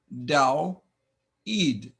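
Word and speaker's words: Δαυίδ: secondly daid you'll remember the first two letters are a dip thong from last time this sound is ow but we have three vowels next to each other so we pronounce two sounds da Eid the accent is here you know this name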